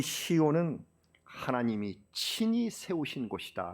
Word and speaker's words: 시온: 나의 소망 우리 민족적인 간절한 칼마 그 상징이 시온 아 큰 현대에 들어 오니까 역사의 시오니즘 이라는 말이 나왔어요 시원이 좀 어 시원을 영어 발음으로 하면 4 의원 인데요 그래서 시온 임을 자이온 있은 그렇게 표현하는데요 2 싸이 오니 좀 유대주의